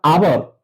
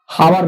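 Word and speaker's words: hour: इसलिए इसके पहले हम लोग ए लगाएंगे और आवर ये जो है हावर नहीं कहते हैं क्योंकि एच का उच्चारण साइलेंट होता है इसलिए अ होता है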